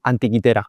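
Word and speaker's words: Antikythera: Anti antiquitera. antiquitera con con C, pero bueno, viene del griego, entonces se pronuncia con con has oído hablar de él.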